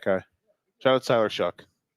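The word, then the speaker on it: Shough: Shout out to Tyler Shuck. And his name is spelled like show. Like though, yeah. Like dough, but with an S, or Yeah.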